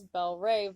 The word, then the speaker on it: Belle Reve: Shatner is the owner of Belle Reve Farm, that is pronounced as Belle Rave, by the way, oops, in Kentucky, and is a well-known breeder of saddlebred horses.